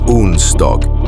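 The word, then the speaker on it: onsdag: It's pronounced und dog. The d is usually silent.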